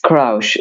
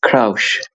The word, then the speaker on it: Kraush: It's Kraush. It came from the word crush, and I made like play word on it. So it's Kraush. Yeah, it's like crouch, but with an ish sound.